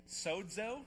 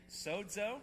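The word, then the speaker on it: σώζω: All right, I want to teach you how to pronounce it. The first one is this, sozo. Can you say it? Let's see, 1, 2, 3, sozo.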